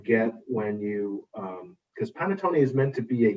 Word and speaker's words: panettone: wanted to try and make panettone i pronounced that right yes is it difficult and